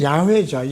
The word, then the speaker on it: 야훼: 히브리어는 야훼죠. 야훼 하나님. 우리 이제 이게 영어식 발음으로 여호와로 바뀐 건데, 야훼 하나님은 나의 무엇 되신 분.